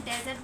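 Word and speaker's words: dessert: जैसे कि इसको हम डेजर्ट बोलते हैं और जो मिठाई से रिलेटेड वाला होता है उसको हम बोलते हैं डिजर्ट।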